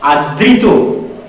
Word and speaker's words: আদৃত: না বলে অমৃত এটার শুদ্ধ উচ্চারণ কি হবে আদৃত এটার উচ্চারণ কি হবে অমৃত তাহলে এই চমৎকার বিষয়